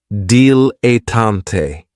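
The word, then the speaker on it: dilettante: And this word has three syllables and there's kind of like a stress on that first and last syllable. Dilatante.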